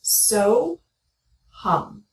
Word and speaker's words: So Hum: And the mantra we're going to use is 2 syllables. It's so, hum. So, hum.